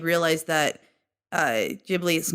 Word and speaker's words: Ghibli: His studio Ghibli, it's spelled Ghibli, is the probably most well-known producer of like Japanese anime films out there.